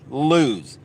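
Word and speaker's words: Lew's: and a few other yes you I said it right lose it's good enough for KVD it's good enough for me right and well and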